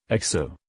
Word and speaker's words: Ajo: pipe cactus national monument a Joe is the Spanish word for garlic Spanish pronunciation XO the Spanish may have